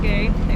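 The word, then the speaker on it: Gugh: I pronounce it goo.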